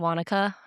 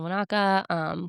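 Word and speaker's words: Wānaka: I would recommend staying, a couple nights in Wanaka, Queens sorry, I always wanna say Wanaka, but it's Wanaka.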